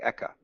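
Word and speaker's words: Eka: In Japanese, it sounds like Ekka.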